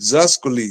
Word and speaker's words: Zeus: But here they pronounce it Zas.